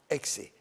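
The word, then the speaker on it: ⲝⲓ: The first one is the Xe, and the Xe is a K and S together, exactly like the letter X in English.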